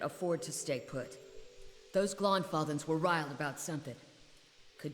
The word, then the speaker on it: Glanfathans: So it's pronounced Glonfathans, not Glanfathans.